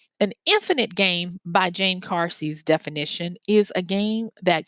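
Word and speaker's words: Carse: by uh James Cary I always say Cary but I think it's named cars and it's spelled c a RS e James cars and he's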